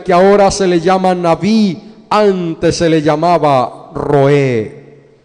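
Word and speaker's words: נביא: lugar Algunos creen que el término profeta que se pronuncia en hebreo navi viene de un verbo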